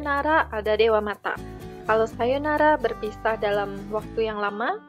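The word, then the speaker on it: さようなら: kita gunakan untuk perpisahan Sayonara Sayonara itu artinya sampai jumpa ingat di sini ada Oh yang saya isi tanda seperti ini dibaca panjang Sayonara Sayonara ini adalah sampai sumpah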